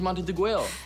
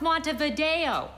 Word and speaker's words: Montevideo: states of South America the capital of Uruguay is monteneguel it's pronounced Montevideo um Montevideo Uruguay you